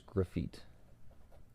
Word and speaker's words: Graffit: So his name is Graffit. I always tell people it's kind of like graffiti, but with no I at the end, just Graffit.